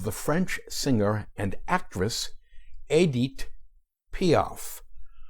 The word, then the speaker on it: Édith: French singer and actress Adit POF whose name I will from here on out pronounce in English as Edith in the Belleville District